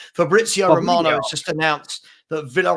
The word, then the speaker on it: Fabrizio: his name correctly there Fabrizio sorry I didn't say the Z I was like fabrio Fabrizio Romano just announced that